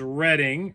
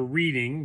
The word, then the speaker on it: Reading: This is Reading, or Reading, based upon how you learn to pronounce it.